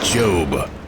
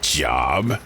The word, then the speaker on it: Job: oh not for nothing by the way it's pronounced job like Globe not job as in g i really hate my job